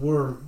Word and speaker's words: Wyrm: temple of the god worm now this is spelled Wyrm and this is an old word that means dragon w-why are there is